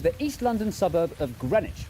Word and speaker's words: Greenwich: This is the East London suburb of Greenwich, where you don't pronounce the W or one of the E.